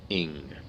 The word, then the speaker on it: Ing: That is Planet Earth, and I'm for Infinite Bob 99, Jacob Ing.